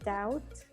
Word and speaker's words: doubt: so here would be doubt out so in doubt you don't really pronounce the letter b right so it's kind